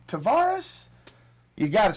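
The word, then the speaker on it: Tarvaris: It's Tavares. It's not Tavarius. It's not Tavarius. It's Tavares Jackson.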